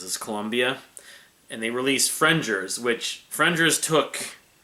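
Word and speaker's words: Frengers: thought it was called frienders i think probably there's half the popular the fanbase probably still calls it frienders but it's actually pronounced fringers like with a j but it's f-r-e-n-g-e-r-s um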